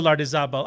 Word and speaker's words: Lardizabal: My legal name is Lardizabal, and you're fine. No one ever pronounces it correctly.